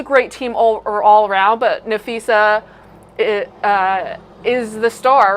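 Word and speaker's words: Napheesa: Nafisa.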